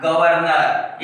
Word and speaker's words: गवर्नर: कहता है कि जिस वर्ण के ऊपर रेफ आता है उसका उच्चारण उस वर्ण से पहले होता है और इसका उच्चारण हो जाएगा गवर्नर।